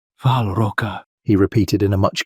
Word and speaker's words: Val Roka: "We are in Valroa, if I pronounce it correctly." "Val Roka," he repeated in a much cleaner Malakei tongue.